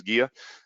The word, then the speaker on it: GEA: When you hear of GEA, GEA, whatever, there's the correct pronunciation here in the US is GEA, but I guess as long as you're calling us, we don't mind what you call us.